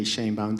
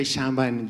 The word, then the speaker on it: Sheinbaum: The explanation is that in Spanish, vowels are always loyal, and they're always pronounced the same. You guys in English make a fair of vowels, and we are all struggling. So E in Sheinbaum is E.